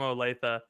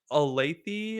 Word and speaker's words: Olathe: college who was from Olathe and I mispronounced it I was like oh I have a friend he's from Kansas he's from like a lathy or something and she was like